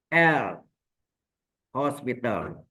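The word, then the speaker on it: L'Hôpital: Nah ini yang dikenal dengan dalil L. Hospital. Tulisan hospitalnya tidak ada S ya. Tapi O-nya pakai topi. Ya.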